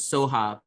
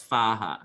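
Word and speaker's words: स्वाहा: So in this particular one, in some translations, they pronounce the last part of the mantra as Soha, but in this one it's Svaha.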